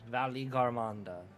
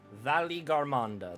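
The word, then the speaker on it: Valigarmanda: gandaa at decades pass Valley Ganda Valley Ganda that's how I'm supposed to pronounce it Valley Ganda why there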